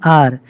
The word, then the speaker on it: hour: बच्चों, यहाँ पर आर जो है वो उसकी स्पेलिंग HOUR है। यह शब्द H से शुरू होता है, लेकिन इसके आगे हमने एन का इस्तेमाल इसलिए किया है क्योंकि आर में हम जो साउंड आती है वो आ की आती